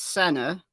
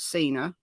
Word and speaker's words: Sena: So we've confirmed that the pronunciation of her surname is Sena, not Sena.